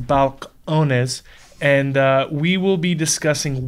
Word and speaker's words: Balcones: distillery and jared hempstead of balconies it's actually pronounced balcones and we will be discussing why texas whiskey